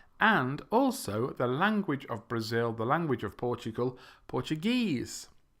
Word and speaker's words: Brazil: you sound more natural remember it's Brazil not brasil' okay thank you very